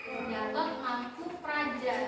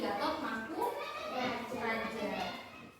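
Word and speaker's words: Gatot Mangkoepradja: Gatot Mangku Praja. Dalam ejaan bahasa Indonesia yang lama, huruf U itu dituliskan dengan O dan E. Jadi dibacanya U. Jadi Gatot Mangku Praja.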